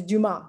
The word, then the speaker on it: Dumas: last name right well if you took french 101 you'd know it's do mom but that's okay oh